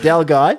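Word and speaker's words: Delguy: Del Guy. I think is how it's pronounced properly. Del Guy.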